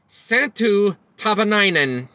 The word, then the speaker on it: Santtu Tahvanainen: bowling fans I think this is how you pronounce the whole name of santu the Finnish Superstar santu tavanan